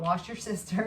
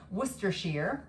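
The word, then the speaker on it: Worcestershire: That is the right way to say that. It's not wash your sister. It's worcershar in that.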